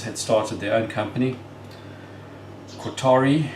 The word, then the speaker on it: Kotare: Qatari, I believe, is the correct pronunciation.